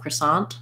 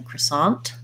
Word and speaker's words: croissant: uh maria's following up she was expecting to hear a stop t in the croissant um yes sorry i should have specified that so if i'm saying a word with a t by itself croissant i might let that t release if i'm saying it